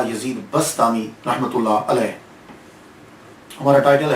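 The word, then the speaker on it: بسطامی: में आपका नाम जो है अबू यज़द यजीद बस्तामी मशहूर हुआ यज़द अब बा यजीद भी कहते हैं अबू यज़ीद बस बस्तामी जो है इसके प्रोनाउंसिएशन में कुछ लोग बुस्तामी कहते हैं, कुछ बिस्तामी कहते हैं।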